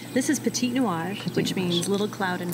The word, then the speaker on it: Petit Nuage: Pronounce it for me again because I'm terrible at pronunciation. This is Petit Nuage, which means little cloud in French.